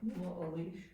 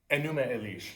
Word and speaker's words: Enuma Elish: Can you spell that word what you just said? Numo Elish. Enuma Elish, yeah.